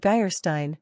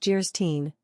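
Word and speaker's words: Geierstein: for sale end of geyerstein pronounced jerstein or the maiden of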